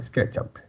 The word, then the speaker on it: SketchUp: Algumas pessoas inventaram uma pronúncia para SketchUp aqui no Brasil. Não, é SketchUp. No americano fala SketchUp, né? É porque a palavra up, sozinha, ela é pronunciada up. Mas quando você junta ela com alguma coisa, ela fica up, né? Daí esse som de up. Que nem wake up, né? Que mais? Wake up. Shut up.